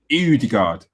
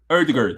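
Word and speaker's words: Ødegaard: show uh was martin eudegard is that pronounced right here the gourd oh the guard earthguard the gourd you know yes that's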